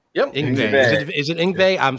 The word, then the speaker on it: Yngwie: Yngwie. Yep. Yngwie. Is it Yngwie? Yeah. I'm sorry. I just butchered that.